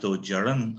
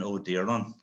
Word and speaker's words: Ó Direáin: My name, by the way, is pronounced Ó Direáin up in the north, and my family, which originally came from Connacht, would have been Ó Direáin.